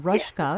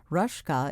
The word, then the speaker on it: Rosjke: to talk about so first of all rushka because i was not familiar with the name i want to spell it for my listeners rushka is spelled r o s as in sam j k e right rushka is my guest